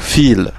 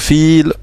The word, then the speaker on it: viel: Vous voyez que le V ici, c'est un V, mais il se prononce F. Donc fil, ce qui veut dire beaucoup. Viele Leute, beaucoup de gens. Donc fil, voilà la diphtongue, c'est beaucoup.